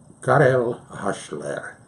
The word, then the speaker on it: Karel Hasler: my name is Carol hustler that's how you pronounce it in Czechoslovakia I was born January